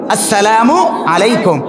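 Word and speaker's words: السلام عليكم: পড়েন আসসালামু আলাইকুম, সঠিক উচ্চারণ কি? আসসালামু আলাইকুম।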